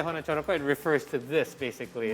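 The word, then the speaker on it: hanacaraka: You can pronounce it so because in So. Javanese like hono coroko, doto sawolo, podo joyonyo, moko potongo. Just like that. So you pronounce A with sort of like O.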